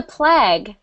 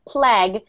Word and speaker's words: plague: yes carmenza plague is it looks like plagu but it's pronounced plague and it means when